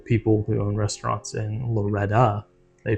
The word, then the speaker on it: Loretto: disil out there in Loretto Kentucky uh it EXC me did you say Loretto yes it's pronounced Loretta there's a song Loretta but anyway I spelled